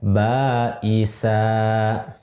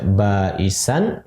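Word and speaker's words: بأسا: Nah, ketika diberhentikan maka sama dengan bacaan kita baisa. Nah, sama dengan seperti itu bacanya. Itu. Kalau tidak berhenti kita baca baisan. Kalau di waqaf berhenti misalnya karena di akhir ayat atau karena habis nafas, baisa.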